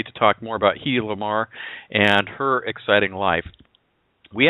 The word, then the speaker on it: Hedy Lamarr: He is the best-selling author and biography of Hedy Lamarr. It's, everybody says it's Hedy Lamarr, but she actually pronounced it Hedy Lamarr, and I didn't know that until the show.